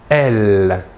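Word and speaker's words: elles: le pronom personnel sujets féminins la troisième personne du pluriel est elle même chose que pour le masculin l'aes finale ne se prononcent pas voilà pour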